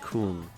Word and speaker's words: Kong: It's clicking your mouth on the side of your mouth, and Kong is pronounced more like Kung.